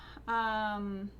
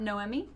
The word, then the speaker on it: Nomi: Probably do the giveaway Nomi, not Noemi.